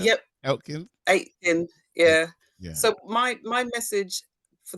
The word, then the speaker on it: Aiken: Aiken, that right pronunciation? Yep, Aiken.